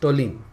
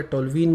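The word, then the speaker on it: toluene: है, so that becomes टोलिन. समझ में आया ना. इसको टोलिन बोलो या टोलवीन बोलो या whatever, right, but इट्स you know depends upon the country इसका pronunciation, but इट्स अ टोलिन, ठीक है.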